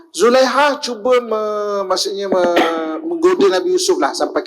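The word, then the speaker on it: Zulaikha: perizinan juga kepada zadika cara baca yang sebenarnya bukan Zulaika bagian pertama yaitu Zulaiha cube Nabi Yusuf lah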